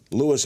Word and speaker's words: Louis: Lewis or Louis CK, you can pronounce it both ways, said of the night you did that infamous set at Largo.